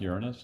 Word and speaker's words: Uranus: guy who discovered the planet Uranus, and it's pronounced Uranus, not the other way.